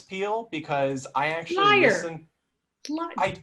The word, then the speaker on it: Pehl: the uh trivia that your last name is pronounced peel which I remember thinking